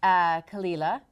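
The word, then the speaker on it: Caol Ila: But yes, this Kalila a fantastic Islay distillery, which I'm sure many of you out there are very familiar with.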